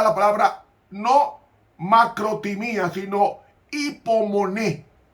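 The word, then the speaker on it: ὑπομονή: Hipomoné. Hay dos palabras en griego que se traducen como paciencia. Una de ellas es Hipomoné, en el griego moderno se pronuncia la U como I.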